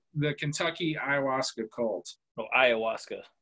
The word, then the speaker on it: ayahuasca: kentucky ayahuasca cult oh ayahuasca the h is silent ayahuasca yeah yeah there it's